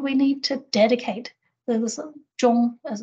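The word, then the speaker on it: 忠: This zhong, as it's pronounced, is a dedication to these particular principles, and ensuring that we fulfill our responsibilities in that role.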